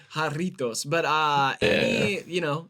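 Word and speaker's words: Jarritos: I will get that I think that's how you say it haritos but uh any you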